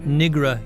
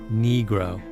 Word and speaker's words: Negro: Not Nigra, Your Honor, Negro.